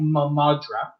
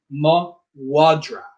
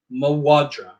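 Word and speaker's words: mo mhadra: So in this case, MH is pronounced as a W. So because of that, this is sounded out as mawadra. Mawadra.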